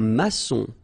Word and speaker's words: maçon: Un maçon. Here you can see that we've got this little cédille beneath the C, okay? And it just means that you will pronounce this C as S, okay?